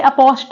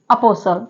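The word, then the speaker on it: apostle: पहले वो साइलेंट है इसे अपोस्ट नहीं पढ़ेंगे क्या पड़ेंगे अपोल ओके जैसे वर्ड नेक्स्ट वर्ड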